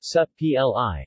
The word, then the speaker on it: Supplì: subtly pronounced sub PLI italian ization of the